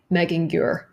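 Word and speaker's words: Megingjörð: I'm sure I'm also butchering it, but it should sound something like Megingjur.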